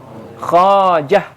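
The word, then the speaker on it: خواجه: Jadi khawa wa ada wau. Kemudian setelah wau ada alif. Wala tuqraul wau. Tapi wnya enggak dibaca. Berarti bacanya khajah.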